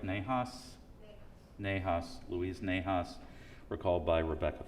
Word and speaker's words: Nahas: Rebecca, have I pronounced that close to correct? Nahas? Nahas.